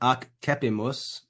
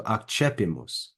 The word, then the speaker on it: accepimus: One thing you might notice is when I pronounce this word here, it's not accepimus. That syllable there in the middle is pronounced che. So accepimus, accepimus.